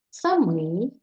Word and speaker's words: самий: ставимо на різні склади якщо ми з вами вживаємо в значенні тільки один то наголошуємо закінчення самий сама саме самі самого